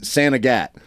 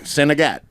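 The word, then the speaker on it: Saint Agatha: that we stayed in they pronounce it santat but I think it's like St a St Agatha or something like that look it up it's main town they call it up there they're like senat but it's doesn't look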